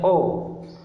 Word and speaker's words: ho: selanjutnya kemudian huruf h huruf H dieja akar teknik tidak pernah dibaca contoh pada kata ini ada tulisannya How ini dibacanya oh oh artinya aku punya yg